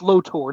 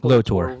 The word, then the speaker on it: Lotor: Prince Lotor, not Voltor. Lotor.